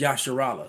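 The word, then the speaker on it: ישראל: level and embarrassing because that's an English pronunciation of a Hebrew word. All right, the word is Yasharala, so you can't get Isra and El out of Yasharala.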